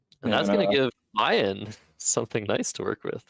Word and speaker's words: Ian: No, Ian prefers Ian as the pronunciation of his name.